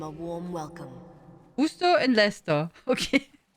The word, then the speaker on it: Leicester: Again, red is pronounced Red Leicester. Red Leicester, not Leicester. Leicester, just Leicester.